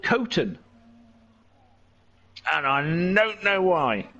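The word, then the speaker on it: Coston: so we stayed in this little village called costum c-o-s-t-o-n which everybody called cotton and i don't know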